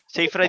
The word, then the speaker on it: Seyfried: Seyfried yung pronunciation.